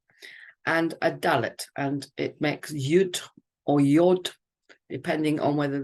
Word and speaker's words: Yud: So Yud, the 10th letter, Yud, Yod, depending on how you pronounce this vowel, this Vav vowel.